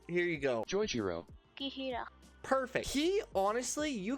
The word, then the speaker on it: Joichiro: Next, we've got Yorichio. Oh my god. The dad of Soma from Food Wars. I'm sorry, I don't know how to say his name. Here you go. Joichiro.